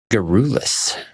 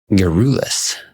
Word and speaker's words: garrulous: Today's word is garrulous. Garrulous. It's a difficult word to pronounce.